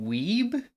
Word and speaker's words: Wiebe: 2 music by Brandon Weeb. That's not how you say that. Wiebe apparently. Go in the Weeby. box. It's actually Weeby. Weeby. Oh my god, thank you, thank you. What a weeb.